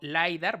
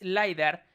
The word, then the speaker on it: LiDAR: los sensores LIDAR o LiDAR. Bueno, la pronunciación correcta es LiDAR, aunque muchos le digan LIDAR, que es Laser Imaging Detection and Ranging.